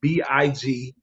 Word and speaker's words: BIGMARH: Outside of that, me personally, you can find me everywhere at BIGMARH. And don't think like how you want to spell it. It's not MAHR. It's MAR with the H at the end.